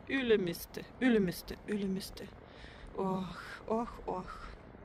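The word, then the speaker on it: Ülemiste: Я все время говорю Ylemmiste. Там такое на... А надо Ylemmiste. Как-то на первый слог в эстонском.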